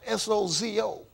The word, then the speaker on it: sozo: It's actually spelled S-O-Z-O, but it's pronounced sozo as though it was a D in it.